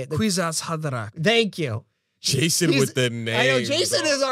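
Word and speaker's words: Kwisatz: also the quats how do you say it quizat thank you Jason with the name Jason is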